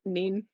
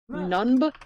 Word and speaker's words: Nunb: Nian Nunb was a Rebel Alliance pilot who I'm just gonna call him Neen. Sorry, no, I guess they call him Nunb. They chose the objectively harder name to pronounce. Nunb.